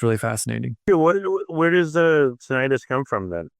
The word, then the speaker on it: tinnitus: Also tinnitus, which most doctors like me pronounce tinnitus, that ringing or hissing sound in the ears.